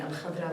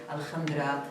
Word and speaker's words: Al-Khadra: And I'll start by saying Al-Khadra was so difficult to pronounce for a lot of people. They would say Al-Khandra, Al-Kandra, and other ways of butchering it.